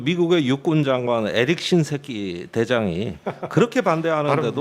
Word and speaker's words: 신세키: 그렇게 그 미국의 육군 장관 에릭 신세키 대장이 그렇게 반대하는데도 발음 주의하셔야 됩니다. 아니 뭐 이게 정확한 발음입니다.